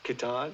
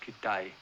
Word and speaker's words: Kitaj: in danger there's hedgepath kitaj no it's pronounced kidai whitcomb the woman knows